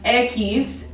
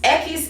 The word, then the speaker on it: equis: ube whatever um so then now we have equis egg he's this is equis ekis is the letter x okay now x a